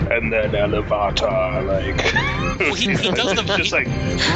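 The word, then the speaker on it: Ilúvatar: I knew you read it because you say Iluvatar, because that's how he says it in the audiobook, and he puts the accent on the wrong. It's Iluvatar. That's how you should say it.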